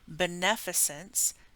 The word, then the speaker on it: beneficence: So A is, and I had to look up how to say this, pronunciation guide, is officially beneficence and non-maleficence.